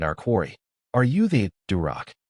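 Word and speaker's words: дурак: Are you the durac?" rhymes with Barack and means fool.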